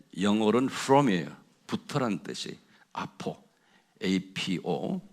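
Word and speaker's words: ἀπό: 그래서 제가 이제 원어를 많이 이렇게 서치를 하면서 거기다 좀 원어를 제가 발음을 불러줄 테니까 좀 적어보세요. 아포라는 단어가 있어요. 그게 영어로는 from이에요. 부터라는 뜻이 아포, APO.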